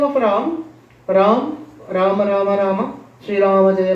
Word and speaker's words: Rama: So simple, 2 syllables, Rama. 2 syllables only, Rama.